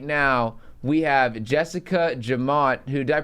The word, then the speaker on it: Jemmott: And right now, we have Jessica Jemmott, who, did I pronounce that right?